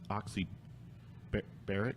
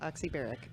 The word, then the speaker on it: Oxybaric: I'm going to pronounce Oxybaric. Yes, that's correct. Yeah. Oxybaric.